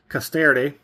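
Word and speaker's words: Castarède: I figured out the proper pronunciation. Caster. The last E is somewhat silent, but then you see that little hash mark.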